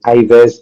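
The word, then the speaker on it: Yves: Even if you pronounce it as Ives or you can you can pronounce it as you want.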